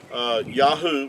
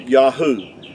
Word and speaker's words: Yahuah: These three letters here, the Yod, Yod, and the Hey, and the Uah would give you Yahuah. And even Benjamin Netanyahu's name is pronounced the same with the three of the four letters of the Creator's name.